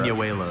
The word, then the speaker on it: buñuelo: Buñuelo.